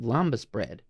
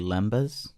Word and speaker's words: lembas: They eat lambus bread. And they're like, I'm Lambus? good for 4 My months. guy, I think it's pronounced lambus bread. Lambus bread. It's probably actually lembas.